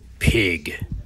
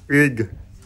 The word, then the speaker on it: Pig: Pig. It's pronounced Ig. The P is silent.